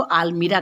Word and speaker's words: almirah: English में इसको आलमीरा कहते हैं, हिंदी में भी अलमीरा भी बोलते हैं, अलमारी भी बोलते हैं। इसका स्पेलिंग क्या है बच्चों, ALMIRAH, आलमीरा।